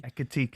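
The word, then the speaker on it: Ekitiké: How do you say it? Ekitike. Ekitike. Yeah.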